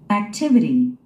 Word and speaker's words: activity: Activity. Activity. Activity. 그죠? 두 번째 스트레스가 있습니다. 이 음절에 우리 한국인들은 이거를 Activity 그럽니다. Activity.